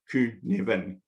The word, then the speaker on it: Cynefin: It's pronounced Cynefin.